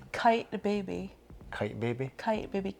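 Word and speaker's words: Kyte Baby: brand I think what does it rhyme with kite baby kite baby kite baby kyt baby that's really expensive yeah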